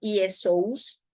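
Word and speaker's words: Ἰησοῦς: Lucas escribió el Evangelio, se escribe como Iesous, pero, y así se pronuncia, pero en original en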